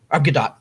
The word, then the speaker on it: Gadot: compensation package like Warner Brothers did with Gal Gadot and Patty Jenkins for Wonder Woman. Gadot. Okay, thank you. You hate it when I correct your pronunciation.